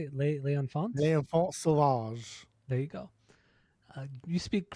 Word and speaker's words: L'Enfant Sauvage: L'Enfant Sauvage.